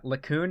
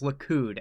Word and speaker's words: Likud: So, yeah, Likud No, it's Likud.